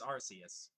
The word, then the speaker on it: Arceus: It's Arceus.